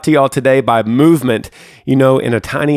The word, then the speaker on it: MVMT: and clean original designs movement which is spelled mvmt grew into one of